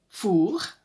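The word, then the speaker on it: fours: hard on the back it sounds the same if the ovens referred to are in the plural fool with an S and fool were of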